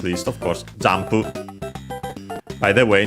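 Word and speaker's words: 音符: not least of course zampu. By the way notice also here j when uh pronouncing them distinctly but of course the n before the p becomes m. So just like in English jump of course then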